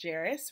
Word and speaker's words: Jharis: And then there's Jharis, rhymes with Paris, Yokley, and he is the drummer.